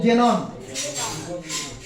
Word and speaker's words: জেনন: এটা উচ্চারণ জেনন।